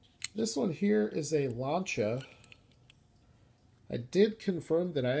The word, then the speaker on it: Lancia: not Lancia it's launched that's a two syllable pronunciation it would be phonetical it would be Lau and CH a launcher and his this is